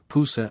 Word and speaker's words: Pusa: called boat and lahan or as these characters are now pronounced by the Chinese Pusa and Lohan the chief minister of